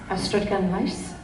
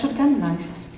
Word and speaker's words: Ystrad: Yes, Ystrad. Right. That's not how it's spelled. Come on, Mom! You were born there! One more time. Ystrad.